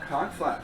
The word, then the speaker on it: Conch: The CH is pronounced like a hard K. Reason why is because that's the way that the islanders speak and spell.